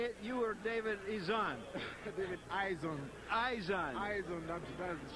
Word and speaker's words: Izon: David Eizen.